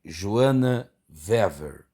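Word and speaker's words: Joanna Weaver: Esse livro que tem por autora, ou é de autoria, de Joana Wever. Dizem que é assim que pronuncia-se.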